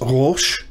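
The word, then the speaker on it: ראש: let's begin with this word the uh i'll pronounce it for you it's rosh the plural is and this means head top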